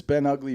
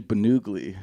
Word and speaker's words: Ben Ugly: funny thing about that everybody thinks it's been ugly but it's actually bennugly sorry for the mispronunciation